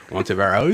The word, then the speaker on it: Ontiveros: Ontiveros.